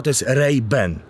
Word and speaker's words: Ray-Ban: właśnie bo powinno prawdziwy prawidłowa wymowa treiben a ja po prostu